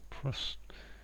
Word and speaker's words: prosit: Prosit, yeah, I've seen that. I think prosit, if that's the right way to say it.